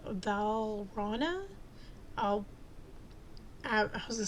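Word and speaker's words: Valrhona: um cadmium and then you have what's called valana I'll I was going to say albino but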